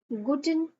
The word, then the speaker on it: gute: Good morning को गुटन मॉ्गन।